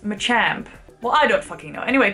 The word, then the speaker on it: Machamp: just giving an example match amp is a thing well apparently it's pronounced Machamp well I don't know